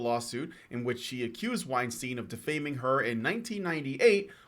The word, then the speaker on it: Weinstein: Ashley Judd's sexual harassment claim against Weinstein, or is it Weinstein? I think it's Weinstein. Against Weinstein, dismissed. Yeah, it's spelled Weinstein, but it's pronounced Weinstein, at least here.